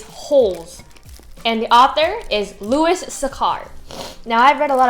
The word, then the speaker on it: Louis Sachar: So, the book that we're going to talk about today is Holes, and the author is Louis Sachar.